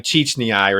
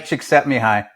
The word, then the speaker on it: Csikszentmihalyi: I think his name is Mihai Csikszentmihalyi or something or rather. But Mihai Csikszentmihalyi.